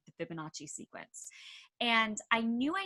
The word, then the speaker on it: Fibonacci: But then you go a little step further, and I know I probably mispronounced it, Fibonacci?